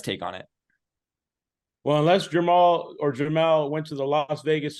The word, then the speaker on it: Jermell: It's Jermell. Jermell. Because he has a twin brother who's Jermall.